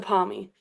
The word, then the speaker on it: parmi: Chicken palmy. Is it a palmy or is it something else? It's a palmy.